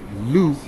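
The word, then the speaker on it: Lugh: But the pagan holiday Lu, pronounced like Hugh, L-U-G-H, NASA.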